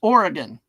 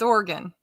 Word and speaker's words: Oregon: It's not pronounced Oregon. It's Oregon. Oregon. Like playing a piano. Organ.